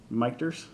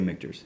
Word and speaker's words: Michter's: the louis foreman is the one that renamed uh the distillery two mikters and it's actually uh portamo porton mu port where you slam two one tormentor pormento palmendo portmanto pimento that uh of his two sons names michael and peter slam together becomes victors oh that makes sense miketers